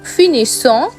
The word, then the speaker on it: finissons: or elle finit, nous finissons, vous finissez, and il or elle finissent. Pay special attention to the double S sounds in the plural forms. Finissons, finissez, finissent.